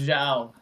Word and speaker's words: Zhao: think that should be So, pronounced Zhao.